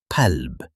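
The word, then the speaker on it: قلب: For example, kelb, which in English means dog, compared to qalb, which in English means heart. One small sound changes everything.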